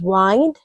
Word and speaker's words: wind: I know you pronounce this word as wind. But do you know that this word can also be pronounced as wind?